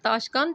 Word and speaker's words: تاشقند: سے تلفظ واضح کریں۔ تاشقند، تے زبر الف تا، تے زبر الف تا، شین تش، کاف زبر نون کن اور دال کے اوپر جزم، تاشقند۔ پھر شکست ہے، شین